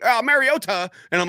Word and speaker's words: Mariota: He was like, oh, Mariota. And I'm like, Mariota. Yeah, that's like pronouncing the L in salmon.